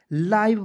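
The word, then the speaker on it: live: लीव लेकिन दोस्तों आपको इसे लीव नहीं पढ़ना है क्या पढ़ना है लाइव पढ़ना है दोस्तों ठीक है एल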